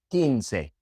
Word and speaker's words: quince: In Spanish, the combination QU just sounds like a K. The U is silent. Que, quince, aquí.